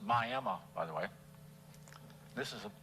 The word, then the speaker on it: Miami: I finally show up on July 17, 1930 in Miami, Florida, pronounced Miami, by the way.